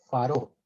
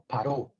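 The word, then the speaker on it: פרעה: la torá No pero en hebreo es faró s o paró s se escribe con fe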